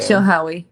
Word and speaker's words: Chilhowee: And then you can basically get toward the, how do you pronounce that? Dam. Oh, you're on mute again. Chilhowee Dam. Chilhowee.